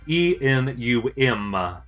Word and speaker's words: enum: everyone says the nume because everyone knows that it's short for an enumerated uh type anyways let's see well